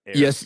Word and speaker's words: Ayres: for quite some time, and that is Sam Ayres of the Wild Initiative podcast, formerly Living Country in the City. Did I say it right? Okay. Ayres.